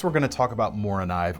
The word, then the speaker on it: Morakniv: All right, next we're going to talk about Mora knife, or Mora Knif if we're being sticklers about our pronunciation, but they're most commonly just called Mora.